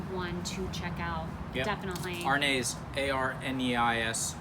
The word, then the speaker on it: Arneis: to check out definitely rnase a-r-n-e-i-s spelled like it's french pronounced like it's italian absolutely chinese thanks for